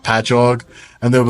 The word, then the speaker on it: Patchogue: I'm from Long Island, and from the cities that we have, it'll be like Patchogue, and they'll be like Chokey, and I'm like, no, it's just ingrained into my brain that I know how to say them.